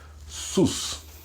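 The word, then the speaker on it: סוס: u e u s então como vai ficar essa pronúncia desta palavra sus o sus em hebraico significa cavalo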